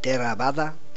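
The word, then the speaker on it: Theravāda: práctica c tero terada esta escuela budista que se pronuncia terada recibe el nombre de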